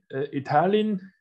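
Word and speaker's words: 意大利: Und Italien, ja, Italien hat nicht das Schriftzeichen Gur dabei, sondern das kommt auch von der Aussprache, aber vor allem aus der englischen Sprache, nicht der deutschen Aussprache, sondern englische Aussprache Italy. Und heißt dann Itali.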